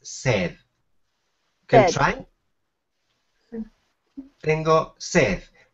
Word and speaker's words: sed: The pronunciation is sed.